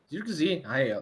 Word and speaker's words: Zirkzee: Correto minha pronúncia? Zirkzee.